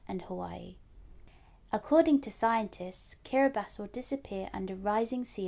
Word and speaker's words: Kiribati: a tiny group of islands called Ding that's pronounced kabas let's say it together one more time kabas kabas has a population of over 100,000 it's made